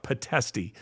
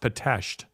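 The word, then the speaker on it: Pitești: excuse me excuse me p-e-t-e-s-t-i it looks like patesty but it's pronounced patashed potato and here's solzenitsin who had suffered a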